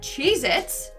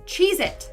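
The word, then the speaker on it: Cheez-It: that tasty cheesec cracker is not called cheit it's chees it either I've been saying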